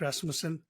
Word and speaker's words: Rasmussen: I hope I didn't butcher your last name, Rasmussen. You actually said it perfectly. That was exactly it. It's a hard name to pronounce.